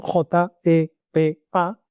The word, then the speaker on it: JEPA: era la famosa GEPA, pronunciado en español, J Pa, que son las iniciales de joint embedding predictive architecture, es decir, arquitectura predictiva de vectorización conjunta, podríamos traducir al español.